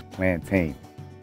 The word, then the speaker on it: plantain: It's pronounced plátano, but if you're speaking English, it's plantain because it's a plantain.